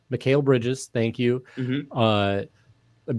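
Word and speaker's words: Mikal: And I remember seeing like a Michael Bridges, Mikhail Bridges. How do you say his first name? Mikhail Bridges.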